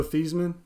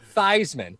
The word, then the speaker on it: Theismann: He changed the pronunciation of his name when he was a senior in college because he wanted to win the Heisman. So he had everybody pronounce his name as Theismann. It is not Theismann. It's Theismann. It's definitely Theismann.